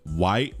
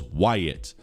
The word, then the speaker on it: Wyatt: White. White. Maybe if my name was White, but it's two syllables. Wyatt, please play a poly on.